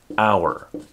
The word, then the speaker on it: hour: then use n n hour would be an example of this this has a vowel sound here and the H is silent an indefinite article such